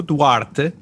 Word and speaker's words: Duarte: quick yeah so I'm I'm DTE uh and obviously nobody pronounces my name like that just like I never